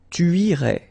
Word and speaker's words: irais: Tu irais. Same thing here, final S not pronounced.